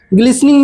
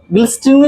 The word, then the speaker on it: glistening: ग्लिसनिंग means क्या होता है? ग्लिसनिंग, यहाँ वो GLISTENING, ग्लिस्टिंग नहीं पढ़ेंगे, टी इसमें साइलेंट है।